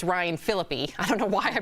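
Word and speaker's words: Phillippe: Also, it's Ryan Philippi. I don't know why I mispronounced it.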